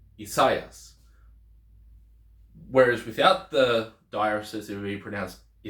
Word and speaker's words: Isaias: So in modern Greek, they kind of pronounce this Isaias. So they pronounce it as 3 syllables.